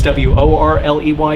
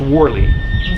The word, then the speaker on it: Worley: I don't know if it's W-O-R-L-E-Y or W, but it's pronounced Worley.